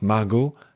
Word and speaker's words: Margot: à la fin ne se prononçait pas donc Margot Asqu et donc à un moment donné de